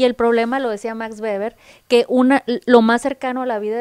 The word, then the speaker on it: Weber: Max Weber, porque así se pronuncia, ¿no? Otros nacos dijéramos Max Weber.